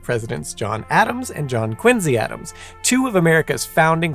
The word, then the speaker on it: Quincy: president, John Quincy Adams, is supposed to be pronounced Quincy, not Quincy.